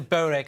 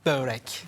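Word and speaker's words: Börek: Or what's the real way of saying it, the Turkish way of saying It's it? Borek. Borek. OK, got it. Borek. Can't believe I've been saying it wrong this whole time.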